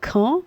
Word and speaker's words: Caen: Donc, c'est un jeune médecin, une jeune femme, une jeune généraliste en Normandie, donc du CHU de Caen. C-A-E-N, c'est comme ça, paraît-il qu'on le prononce.